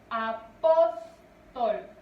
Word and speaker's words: apóstol: Apóstol. Vean, su mayor fuerza de voz recae en pos.